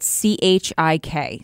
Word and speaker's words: Chik: They can go to chickmedia.us, but don't be deceived. Chick is spelled CHIK. So it's CHIKmedia.us.